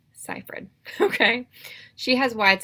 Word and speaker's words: Seyfried: seyfried I googled how to say her name ciphered okay she has wide said eyes notice they're